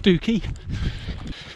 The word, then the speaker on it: Stiffkey: certificate and there are many others will tell you it's actually pronounced stooky like many counties Norfolk